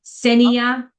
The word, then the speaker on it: Kseniya: so K is silent, Kseniya Stupak. Kseniya Stupak.